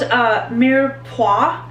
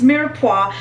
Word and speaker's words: mirepoix: It's called mirepoix. I think I'm pronouncing correctly. It's mirepoix.